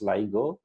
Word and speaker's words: LIGO: and in short form we call this as ligo and some used to pronounce that lego as well so what this